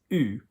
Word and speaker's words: eu: And this bothers you all because everywhere else in French that you have the pronunciation, you have E and U together, you have the pronunciation E. So I can, je peux, he wants, il veut. Whatever's going on, EU normally in French will give you E. But here it sounds like all the others that we've just done, U.